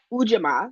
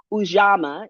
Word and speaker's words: Ujima: the answer to that y'all is ujima some people pronounce it ujama is maybe how you've heard it more um uh Norm I